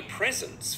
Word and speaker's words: present: Present cũng là danh từ hai âm tiết, chúng ta cũng trọng âm rơi vào âm số 1 luôn.